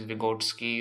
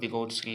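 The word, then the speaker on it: Vygotsky: comes botski's Theory yeah his name is vigotsky or vigotsky you can pronounce it either way so Le vigotsky was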